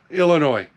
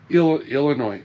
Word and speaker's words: Illinois: for eight months now Illinois Illinois there's no noise in Illinois get it right before